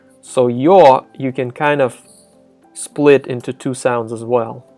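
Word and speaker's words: ё: So the rule says that in open syllables, it's pronounced as is, yo. For example, yol, yol. But in a closed syllable, or when preceded by a consonant, yo is blended in with the consonant, and the y part of it kind of disappears a little bit, and it does affect the consonant too.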